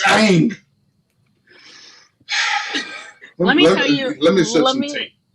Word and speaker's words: Aang: It's not Ong. It is not Ong. It's Aang.